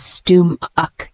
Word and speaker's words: stomach: The word stomach, S-T-O-M-A-C-H, is a noun, pronounced as stum-uck.